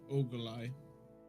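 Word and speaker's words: Ogolai: or ugali or how how would you pronounce it even by the way? Uh uh it's ogalai.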